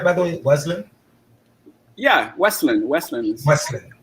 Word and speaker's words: Wesleyan: Am I pronouncing that right, by the way? Wesleyan? Yeah, Wesleyan.